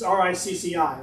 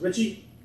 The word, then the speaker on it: Ricci: It's R-I-C-C-I, right? Yeah, Ricci. Is it Richie?